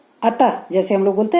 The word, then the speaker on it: अतः: और विसर्ग स्वर के बाद यह भी आता है, और इसका उच्चारण ह की तरह होता है। अतः, अतः जैसे हम लोग बोलते